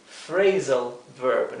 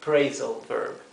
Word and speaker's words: phrasal verb: La combinación de P y H se lee y se pronuncia como la letra F del español. Por lo tanto, PH se pronuncia igual que la F. Bien, esto es phrasal verb, no es praisal verb.